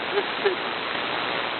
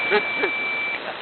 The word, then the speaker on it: Mississippi: Notice I know how to say Mississippi. Not an extra syllable, man. Mississippi.